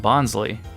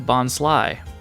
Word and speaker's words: Bonsly: I've been calling this Pokémon Bonsly, but it's actually Bonsly, which does make more sense cuz it's based on like a bonsai tree, so I guess, yeah, that works.